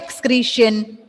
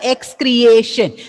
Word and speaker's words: excretion: Excretion, not excreation. See, when you are pronouncing it as excretion, A should be there, isn't it? Is there any A is there in the spelling? No, ma'am. No, ma'am. No. So, what it is? Excretion. Okay? Excretion. Excretion. Creation. Don't pronounce it as creation. A is not present.